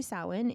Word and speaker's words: Samhain: It's actually Samhain in Ireland.